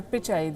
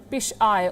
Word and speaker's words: Pichai: While grilling these social media giants, American senators could not pronounce the name of Sundar Pichai. They kept calling him Pish-I or Pick-I.